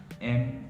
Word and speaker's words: mountain: TAN is good for this word, MOUNTAIN. It's pronounced as mountain.